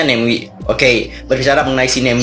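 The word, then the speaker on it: Namewee: MIUI neoui cara bacanya segimana ini tulisannya karena bacanya nengwe Oke berbicara mengenai sini hem di ini baru-baru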